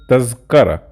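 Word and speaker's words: تذكرة: Usually in Masri the people pronounce it tazkara, without the tongue out.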